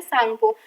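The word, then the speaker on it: Tsangpo: से जाना जाता है जिसका नाम है सांगो। इस तरीके से हम इंग्लिश में देख सकते हैं जो टीस का साइलेंट रहता है।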